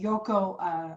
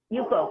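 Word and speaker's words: Yukko: I noticed that you mentioned the Yoko straightening. Yuko. It's spelled Y-U-K-K-O.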